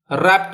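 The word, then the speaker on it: wrap: next कौन सा है रपट इट रपट इट ये डब्लू है पहला वाला वो साइलेंट है क्या मतलब है रपट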